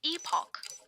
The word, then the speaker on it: Epoch: It's pronounced Epoch, by the way.